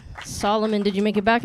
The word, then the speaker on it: Solomon: My name is Solomon. They call me the solo soul man. Do not pronounce it salmon.